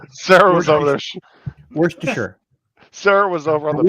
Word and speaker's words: Worcestershire: No, there's no sh. It's Worcestershire. Sarah was over there. Worcestershire.